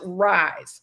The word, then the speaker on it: RISE: And the galas is going to be around our signature program called the Rosa Youth Empowerment Series, pronounced RISE.